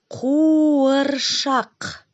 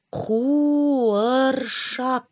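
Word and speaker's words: қуыршақ: Кукла по-казахски куаршак. Чтобы правильно произнести это слово, нужно сначала зарычать, как мишки.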